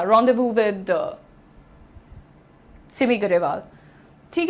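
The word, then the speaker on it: rendezvous: अच्छा, प्रोनाउंसिएशन देखिए, apostrophe, apostrophe नहीं है ये, apostrophe, apostrophe, pronounce रॉन्डेवू, इट इज रॉन्डेवू। बहुत सारे लोग इसको रॉन्डेवस बोलते हैं, लेकिन इट इज रॉन्डेवू।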